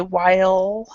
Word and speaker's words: while: It's very important that with this word that you actually pronounce the L, and it's very difficult for a lot of people. So you would say while.